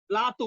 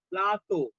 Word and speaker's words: plateau: প্লাতো উচ্চারণটা শোনো আমার, প্লাতো। PLA TEAU প্লাতো। এর উচ্চারণটা হচ্ছে প্লাতো, মানে বাংলায় বললে পয়লা আকার তয় ওকার, প্লাতো।